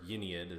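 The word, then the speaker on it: Ynnead: Anyway, the idea is the Eldar will be dead, but Yennead will rise up or Yennead as the Brits like to say it.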